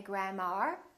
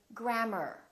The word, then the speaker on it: grammar: A r as in words like grammar. Don't say grammar. Say grammar.